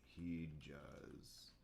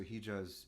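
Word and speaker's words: hicaz: this in the chat h i um c a z he j in a um let's see it sounds like j j in turkish in arabic they'll write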